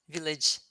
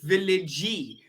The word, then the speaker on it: village: noticed that you said villagey which is very common with portuguese and spanish people they pronounce the e at the end of the words we don't pronounce the e there's no e yes yes in portuguese